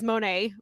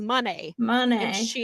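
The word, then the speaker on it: Moné: Kevin Kelly was pronouncing it as Monet, like most of us have, but Mercedes pronounces it as Money.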